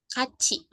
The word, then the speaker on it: 같이: Nah, di sini ada kata keterangan ya Robun, ditulisnya kat'i ya, dibacanya 같이 kaci Ayo.